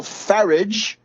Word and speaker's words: Farage: And we know that Grillo has sealed an alliance with Nigel Farage, rhymes with wreckage or garbage.